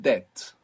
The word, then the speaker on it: debt: We don't pronounce it in English, of course, but this word is from Latin, and debo is I owe.